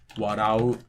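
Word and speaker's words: 笑う: Either the verb is going to be Heiban, for example, like neru, warau, asobu. These are all flat.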